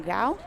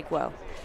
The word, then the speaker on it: Guo: Wearing 8, we have Lachlan Gao of Crystal Springs. Excuse me, I should say Guo. I mispronounced that.